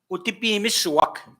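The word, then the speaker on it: Otipemisiwak: And the pronunciation for that problem that some people have, Utipi Misuwak. Utipi Misuwak. People that own themselves. Utipi Misuwak. Not complicated.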